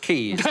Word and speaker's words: Caius: Oh, are you also the head of Caius College or whatever? I think you'll find it's pronounced Keys.